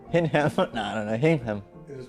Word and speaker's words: Hingham: Hingham. It is pronounced Hingham.